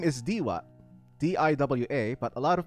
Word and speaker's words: Diwa: Or my real name is Diwa, D-I-W-A, but a lot of people mispronounce it.